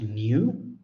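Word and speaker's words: ν: we have V so as actually V it's pronounced new so new is frequency so I don't like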